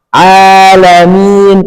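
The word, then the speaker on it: العالمين: Kemudian ada ain dari tengah tenggorokan. Keluarkan jangan sampai ditelan. Karena ada orang mengucapkan ain ditekan ditenggorokan. A a ditekan enggak boleh ditekan jadi harus dikeluarkan a i u alamin na'budu na dikeluar harus dikeluarkan jangan ditekan ditahan berada di area tenggorokan jadi jangan a a ber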